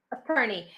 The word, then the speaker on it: attorney: Attorney. So remember, guys, the pronunciation is ter, attorney, attorney, ter. It's not to, it's t, attorney.